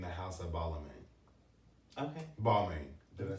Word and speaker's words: Balmain: Balmain. Did I say it right? Yeah, Balmain.